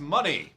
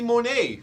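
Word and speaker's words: Moné: uh I thought it was going to be Monet for some reason yeah it was pronouncing money so that's that's cool but yeah she showed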